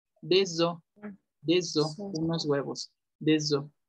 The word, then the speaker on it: des œufs: Pero si dicen huevos, ya es O. Deso.